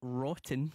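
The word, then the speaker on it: Wroughton: Daniel Rotten Craig. No. Yeah. What a good name. Mm-hmm. But then it sounds like rotten. I like it. I think it's cool. Spelt with a W-R-O-U-G-H-T-O-N.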